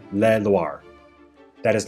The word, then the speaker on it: Loire: one is called la luar although the word loire is pronounced exactly the same for both rivers one is spelled with